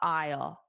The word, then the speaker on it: aisle: Yeah, it sounds exactly the same, but context would make it obvious that they're not talking about I will.